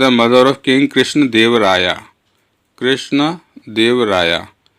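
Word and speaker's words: कृष्णदेव राय: The mother of king Krishna देव राया, कृष्ण देव राया। हम English में क्या करते हैं, ये लगाते हैं ना, तो इसलिए ए लगा हुआ है। ये है इसका प्रोनाउंसिएशन कृष्ण देव राय, ठीक है।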